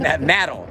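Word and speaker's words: Madill: Medill. No, Medill. Medill. I'm going to say it correctly. Medill, Oklahoma.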